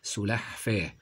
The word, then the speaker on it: سلحفاه: في وسط الكلمه لحم سلحفاه هذا النطق الصحيح لها نقول سلحفاه سلحفاه بعد ذلك تمساح تمساح